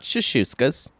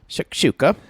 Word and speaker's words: Shakshuka: Someone needs to send Rachel a text that it's not, number one, it's not shashuskas. Shakshuka.